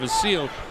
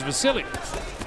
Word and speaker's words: Vasyl: some people call him the seal but it but he says and the people around say his name is Vasily well Nick even spells